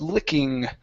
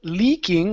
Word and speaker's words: licking: my notes oh yes licking uh right here instead of Lee leaking with a long e e Le it's I li licking licking his face I